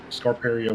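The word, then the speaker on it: Scarperia: will say this I'll trying to stop my pronunciations yeah yeah exactly I will say this uh you did say scar scar peria which is the town that the racetrack is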